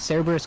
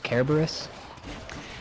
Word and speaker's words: Cerberus: Sometimes like, isn't Cerberus Kerberos?